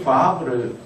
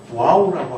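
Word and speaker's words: ו: 그래서 어떤 사람들은이 바브를 그니까 영문으로 음력을 할 때 이것이 W로 운력이 되거든요. W로 운력이 되는데이 W가 어 유럽에서는 발음이 나지만 영미권으로 가면워 이런 발음이 나죠. 그래서이 바브를 와우라고 하기도 합니다. 그래서 어 여러분 다른 책을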